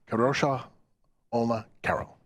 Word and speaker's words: Kadrolsha Ona Carole: our special guest the queen of the Paranormal kadosha Olma Carol so here I am with the queen of the Paranormal kosha Ola Carol yes good to see you pronounced it right too that's good of practice